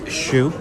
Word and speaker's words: choux: It is a chocolate choux. That's CHOUX. Trust me, I listened to the pronunciation like 6 times on YouTube just to